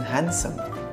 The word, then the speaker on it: handsome: D as in handsome. E as in height. F as in halfpenny. Halfpenny is how you pronounce half penny.